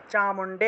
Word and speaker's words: চামুণ্ডে: তাহলে ওম জয়ত্বম দেবী চামুণ্ডে, চামুণ্ডে এখানে মূর্ধন্য এবং ড আছে, তাহলে চামুণ্ডে।